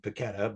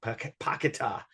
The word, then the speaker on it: Paquetá: um hopefully I'm pronouncing I would have normally said paquetta but or whatever but you know it sounds like pakita is the way to say his name so he uh was